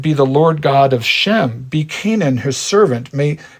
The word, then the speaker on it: Shem: All Hebrews will be descended in particular from Shem, or Sem as it is sometimes pronounced.